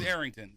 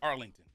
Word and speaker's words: Arrington: Well, my last name is Arrington. There's no L, but people love to call me Arlington.